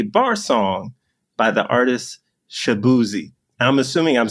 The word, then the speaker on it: Shaboozey: And so, that's why he apparently everybody else mispronounced it. He's like, "You know what? We'll just make it easy. It's Shabuzzi and just kind of respelled it, but made